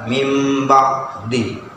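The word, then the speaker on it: مِنْ بَعْدِ: Meskipun di sini ada yang kecil ya, maka cara membacanya adalah aslinya memang min ba'di, cuma karena dalam hukum tajwid dibaca mim ba'di.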